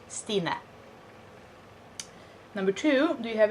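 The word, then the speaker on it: Sine: for the record is s i n e pronounced stina number two do you have any piercings why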